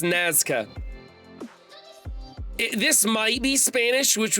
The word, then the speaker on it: Nazca: And I want to call this NASCAR, but I think it's Nazca.